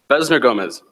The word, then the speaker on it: Besner Gomez: first day was that you actually pronounce my name right you didn't hesitate you just said Besner gomez Wow who is that kid I've never heard that name before instead of saying a Besner or beans err and looking around